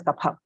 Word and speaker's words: kapha: is so but but we wouldn't write it in english as k-a-f-h-a we would write it as k-p-h-a and pronounce it as kapha yes so when we